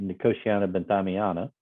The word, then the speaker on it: Nicotiana benthamiana: But essentially, what we do is using the Nicotiana benthamiana, which you didn't quite get it right, but you were close.